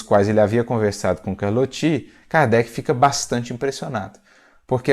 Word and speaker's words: Carlotti: Carlotti, mas pronunciamos o seu nome Carlotti. A pronúncia mais adequada é Carlotti.